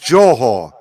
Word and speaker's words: Johor: it's pronounced it's pronounced yeah it's pronounced jawhor but he says zorho it's